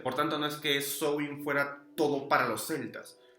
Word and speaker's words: Samhain: Samhain, si lo quieren llamar así, pero la pronunciación es Samhain.